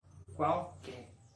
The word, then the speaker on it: qualquer: Qual con la letra Q y la letra U con sonido de CU, qual, pero todo junto, qual, y que con sonido de KE, que, y una R al final. Qualquer. Las dos pronunciaciones diferentes que tiene la letra Q en portugués en una única palabra.